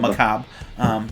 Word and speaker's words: Macabre: Did I say it right? That Macabre. Macabre. There's no R there.